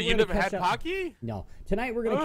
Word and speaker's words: Pocky: really yeah part of the cars while eating Pocky did I did I pronounce that right yeah yeah Harding the cards